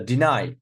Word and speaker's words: deny: exception here look the deny deny also say second deny insist look insist like